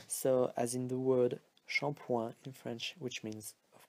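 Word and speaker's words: shampooing: doesn't matter alright but do not forget the this silent G at the end alright so now let's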